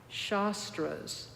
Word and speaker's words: shastra: Buddha however there are something called shastras that's spelled s h a uh-oh s-t-r-a shastra and shastras mean commentaries